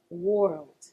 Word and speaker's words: world: world See, it gets difficult when you add in the L after the O R. It gets even more difficult, I should say. In English, a lot of the time you have to remember to pronounce each letter. So, in this case, even the L must be heard.